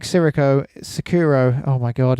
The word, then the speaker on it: Sekiro: How do you pronounce it? Sekiro.